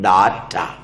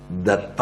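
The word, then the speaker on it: दत्त: DATTA, ഡാറ്റ. ദത്ത എന്നാണ് വായിക്കേണ്ടത്.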